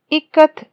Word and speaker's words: ikat: said it is pronounced i as in it ka as in kamala and t as the in both ikat is an indonesian term